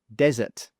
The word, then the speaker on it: desert: In the first one, the stress is on the first syllable or the first sound, desert, desert.